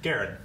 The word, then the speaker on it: Guerin: Pronounced like Gare. Gare. Okay, Guerin. Garen. Is that a cat there? Like hair and run.